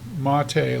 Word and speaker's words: MATE: very polite and he's like look should be pronounced mate like m a h ma t a way mate this is what it looks like it's a little bigish for me.